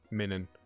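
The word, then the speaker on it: Minun: Minan. How do you pronounce it? Min. Yes, because it's minus.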